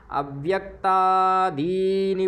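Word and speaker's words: अव्यक्तादीनि: है इसलिए पूर्णता है अव्यक्ता दीनी दीनी छोटी ई है और दी बड़ी ई है दी में बड़ी ई है ना में छोटी ई है दोनों का समान उच्चारण करना है है ना छोटा बड़ा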